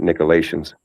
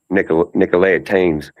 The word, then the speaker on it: Nicolaitanes: Most Americans pronounce it Nicolaitans, but the correct pronunciation is Nicolaitanes in Greek.